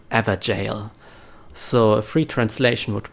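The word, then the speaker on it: Evergaol: look that up g-a-o-l is an Old English word which means jail and it's pronounced in a similar way more like ever jail so a free translation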